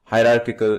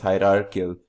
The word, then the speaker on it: hierarchical: Finally, we have, penultimately, we have as our fourth example of inheritance called hierarchical inheritance. Pardon my mispronunciation, it's hierarchical inheritance.